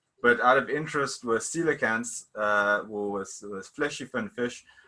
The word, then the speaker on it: coelacanth: We are all fleshy fin or coelacanth grade tetrapods, or tetrapod grade coelacanths.